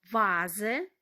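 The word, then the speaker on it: Vase: як звук ф але Інколи буває що ми маємо слова іншомовного походження тут Дана літера буде читати як звук в вази чому вази тому що с між голосними читається як звук з вази вікто Віра маємо імена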